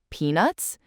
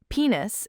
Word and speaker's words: peanuts: So if you're asking, do you like peanuts? You want that T in there. If you don't, it could sound like, do you like penis?